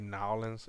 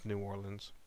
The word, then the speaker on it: New Orleans: New Orleans, because actually people from New Orleans don't say Nowlands. It's New Orleans.